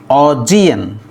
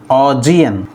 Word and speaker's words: Augean: So finally Augean is pronounced as Augean. Augean. The stress is on the second syllable G.